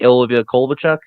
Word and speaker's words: Ilya Kovalchuk: Ilya Kovalchuk. Is that how you say it? Ilya Kovalchuk? Yes.